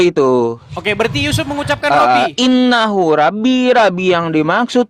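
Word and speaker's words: رَبِّي: kosakata Rabbi itu boleh ya, Rabbi bukan Robbi ya.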